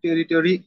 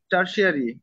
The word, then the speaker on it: tertiary: joblessness among territory educated youth in Bangladesh না, as high টেরিটারি না, টেরিটারি না, tertiary?